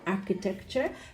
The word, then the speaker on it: architecture: Now, group 1, all of the words have the schwa, no, picture, architecture, because none of them have the stress on the U-R-E syllable.